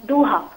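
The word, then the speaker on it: ضحى: second question is that my daughter's name is zuha which is in arabic pronounced as duha so uh is it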